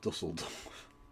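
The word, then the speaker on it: Düsseldorf: It's actually pronounced Dusseldorf.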